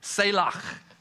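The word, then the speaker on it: צלח: You kind of got to say it like you've got popcorn stuck in the back of your throat. It's selach.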